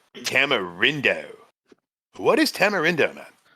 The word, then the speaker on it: tamarindo: but they had something that was called like tamarindo.